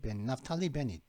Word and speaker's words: 나프탈리 베닛: 나프탈리 발음은 나프탈리 베닛 나프탈리 베닛 이 사람은 바뀌었는데 지금 그 미국의 중재로 이제 그 시스파이어 교전 중지가 이루어졌었죠.